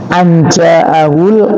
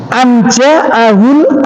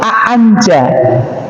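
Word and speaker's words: أَنْ جَاءَهُ: Tapi kalau dalam ilmu qiraah itu a'anja, ada tambahan alif di depannya, ya. Tapi kita tidak usah membaca a'anja'ahul a'ma, ya kita bacanya tetap anja'ahul a'ma.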